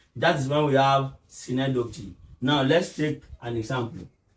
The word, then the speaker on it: synecdoche: Now we are moving to the fourth one, which is synecdoche. People do call it synecdoche. It is not synecdoche. The correct pronunciation is synecdoche.